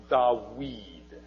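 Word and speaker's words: דוד: David would have been pronounced Dawid, with a w sound. And in fact, in Arabic, it's still Dawid.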